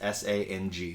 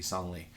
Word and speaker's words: Sang: It's pronounced S-A-N-G, Song Lee. And if you called him Sang, he wouldn't respond to you.